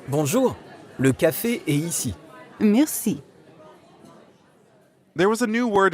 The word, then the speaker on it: merci: Merci. That's right. Merci means thank you. Merci. Merci. Merci has a French R in the middle, so we have to use our throat a bit.